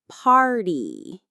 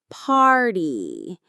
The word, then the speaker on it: party: Let's take the word party. Party. That R is right in the middle and it's strong.